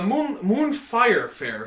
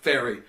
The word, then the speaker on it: Moonfire Fair: The Moonfire Fair is coming out tomorrow. That's the first time Dave has pronounced it correctly. Yes, it is. I always pronounce it fairy. I don't know why.